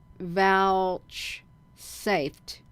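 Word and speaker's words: vouchsafed: out from it is vouch safed v u c h s a f e d like vouched vouch they hold that this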